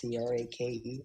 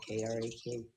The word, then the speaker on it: Crake: It's Crake, not Krak.